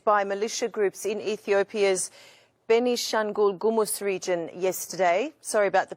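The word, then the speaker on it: Benishangul-Gumuz: people were massacred by militia groups in ethiopia's benishan ghoul gumus region yesterday sorry about the pronunciation ethnic amharas are being persecuted again please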